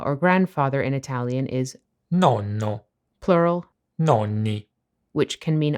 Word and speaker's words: nonno: Many English-speaking people with Italian ancestry use the word nonno to describe their grandpa, although it tends to be pronounced with one “n” instead of two.